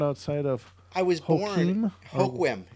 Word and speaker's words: Hoquiam: It can be found outside of I was born Hoquiam. It's pronounced Hoquiam.